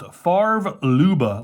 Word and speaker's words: Favre Leuba: It's pronounced Favre-Leuba, like Brett Favre, the quarterback.